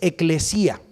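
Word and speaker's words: ἐκκλησία: En griego es eclesía. Así se dice en el griego, se escribe en el griego, eclesía.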